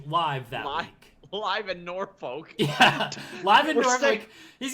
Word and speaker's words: Norfolk: norfolk i used to sean's not even saying it right nor folk no it's norfolk norfolk yeah that's legitimately how it's said i was born here